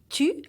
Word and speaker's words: tu: Tu, as in tutu, so push your lips forward.